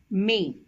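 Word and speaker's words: mais: this is pronounced as May which means but and this is pronounced as ma is because there is a trema over the letter I and a and I has to be pronounced separately hope you understood the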